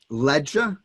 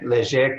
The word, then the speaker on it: Leger: Ledger, is it? Ketchum and Cohoon? Leger, Ketchum. Leger. Yeah, Leger is a Louisiana Cajun name.